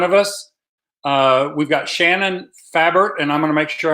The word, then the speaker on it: Fabert: you here today so let's welcome in Shannon fabric and I want to be sure I'm saying that right am i pronouncing that last name correctly it's actually favorite plant okay got it favored really glad to